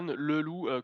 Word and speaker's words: Leloup: Ça s'écrit Stan Leloup, comme un loup, mais tout collé, Leloup.